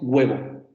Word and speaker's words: huevo: huevo un huevo decimos huevo huevo huevo huevo como si hubiera una g antes de esa pero evidentemente no es una g porque no es la